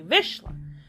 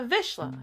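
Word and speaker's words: Vizsla: I couldn't even say I finally learned how to pronounce it correctly visha so I'm like oh I have a visha everyone everyone's like is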